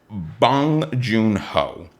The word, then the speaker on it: Bong Joon-ho: And it's a new film from Bong Joon-ho. Which you are pronouncing correctly.